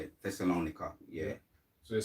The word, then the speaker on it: Thessalonica: Thessalonica.